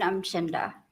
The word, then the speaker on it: Umchinda: I'm Chinda. Will you spell that, please?